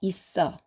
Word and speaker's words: 있어: 4번은 겹받침 스, 쌍시옷과 어가 만나서 새로운 음절, 써를 만듭니다. 그래서 있어, 있어 이렇게 읽습니다.